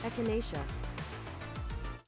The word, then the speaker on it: echinacea: Echinacea.